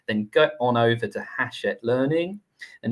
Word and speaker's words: Hachette: professional development books, then go on over to Hachette Learning, and it's pronounced Hachette, but it's spelled like it's Hatchet.